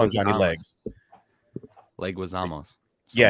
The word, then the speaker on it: Leguizamo: Johnny, I can never pronounce his name. Legadamos. I always mess it up. Oh yeah. I call him Johnny Legs. Leguizamos.